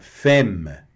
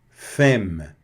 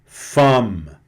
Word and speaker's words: femme: Então, não vou falar aqui, por exemplo, olha, aqui no caso a pronúncia correta, femme, femme, que é mulher, né? E não femme. Não é femme, é femme, tá certo?